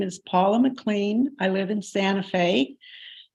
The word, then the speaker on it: McLean: my name is Paula McLean I live in Santa Fe my name is spelled p-a-u-l-a m c Capital c-l-e-a-n like Mr Clean um I'm going to